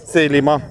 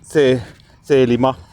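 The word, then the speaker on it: Thelema: The lima the lima with the modern Greek pronunciation the lima meaning will in Greek which he believed for set the individual free.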